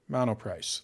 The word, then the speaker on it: Monoprice: Monoprice.